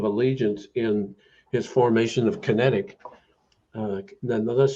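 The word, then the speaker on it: QinetiQ: an oath of Allegiance in his formation of kinetic uh nonetheless spell q-i-n-e-t-i-q but it's pronounced kinetic and in 1908 see it was in 2002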